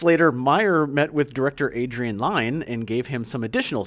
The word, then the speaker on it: Adrian Lyne: Well, I've been saying it wrong. I've always said Lynn as well. Yeah. But Adrian Lyne.